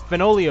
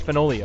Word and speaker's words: Fenoglio: Instagram as at Chris fenoli Oh fun fact he told me the easy way to wrote and remember how to pronounce his last name is that it rhymes with cornholio in kickstarter news past